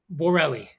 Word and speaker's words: Borrelli: Borelli. Borelli. That's exactly how it's spelled.